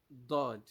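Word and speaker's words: ضاد: This letter is called Dod. Dod, Dod, Dod, with the letter of D, not D directly like that, but like DH. You can see it like DH. That's how it is being transliterated. Dod, Dod, Dod.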